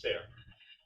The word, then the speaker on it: Cerf: I met his son, who told me his name is pronounced Ser. But they're perfectly happy to have it called Cerf because there's another Ser in the world.